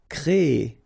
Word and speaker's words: créer: So it's quite interesting, sorry, here, because first you will have this CRE accent aigu, so you get the créer sound, and after that you get this ER sound, so E. So technically you will have this double E sound. Créer. Okay, so it's longer. Créer.